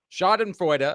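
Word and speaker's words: Schadenfreude: Shod and fa I believe that's how it's pronounced. I don't know if you're if you're speaking German. It's a German word.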